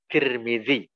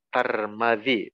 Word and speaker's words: Tirmidzi: akhir milik sedikit tambahan jadi kita membacanya adalah Tirmidzi atau boleh dengan bacaan dengan Aa Tarmadji tetapi magnetnya dengan Fatah